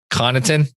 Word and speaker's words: Connaughton: Let me get sure I get the pronunciation right. Connaughton.